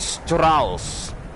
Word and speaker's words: Strauss: gauss gauss like johann strauss gauss you don't pronounce Stra you SSS Stross it Strauss Johann Strauss therefore the warframes name